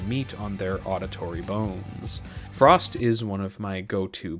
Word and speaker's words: Frost*: in the Wires by Frost. The asterisk is silent.